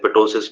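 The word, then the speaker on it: ptosis: से कर सकते हैं पोसिस भी बोलते हैं पी साइलेंट रहता है इसमें टोस से हम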